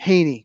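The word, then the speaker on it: Hanie: Um I believe it's pronounced Hy. Han I E. Haney.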